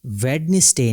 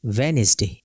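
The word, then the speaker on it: Wednesday: hanker chief Baij और वेडनेसडे नहीं होगा बल्कि होगा वेनसडे ई में अगर हम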